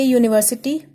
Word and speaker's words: university: Now you must be thinking that U is a vowel, So why we used a here? We never use an university because this has the sound of U, like you. It doesn't have a vowel sound.